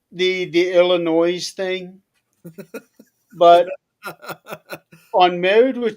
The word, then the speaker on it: Illinois: One of the things they said was when we went through the states, they would say there is no noise in Illinois.